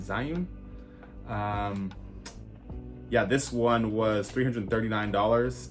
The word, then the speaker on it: Zhiyun: I think that's the name of I think that's how you pronounce it, Zhiyun.